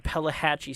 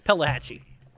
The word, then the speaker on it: Pelahatchie: it up palette Pella it's Pelahatchie at least I think it is it could be saying it wrong this whole entire time uh let's see here